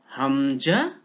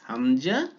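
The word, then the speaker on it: همزة: হামজা হা, ইয়েস হামজা হা। বলুন তো হামজা হা কোথেকে উচ্চারণ হয়, একটু চেষ্টা করুন, চেষ্টা করুন। হ্যাঁ, কণ্ঠনালীর প্রথম ভাগ থেকে হামজা হা।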